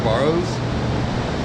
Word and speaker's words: Barrow: I'm getting them under $200 a piece for the Barrows. That's how you pronounce it.